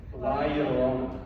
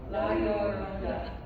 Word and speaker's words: La Llorona: I'm not even gonna try to pronounce it. La Llorona. La Llorona.